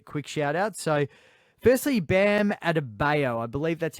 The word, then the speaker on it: Adebayo: So firstly, Bam Adebayo. I believe that's how you pronounce his name. Bayo. Bayo? Adebayo? Is that it? Adebayo?